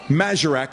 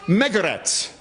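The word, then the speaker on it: Magarac: Well, Majorak means something too. In fact, it's pronounced Megaretz. And those people heard that name, Megaretz, and they began to laugh.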